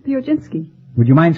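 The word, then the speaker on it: Piechocinski: with you uh uh how do you pronounce your name the oginski would you mind spelling it p-i-e-c-h-o-c-i-n-s-k-i not pronounce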